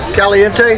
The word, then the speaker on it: Caliente: How you pronounce that? It's a Caliente.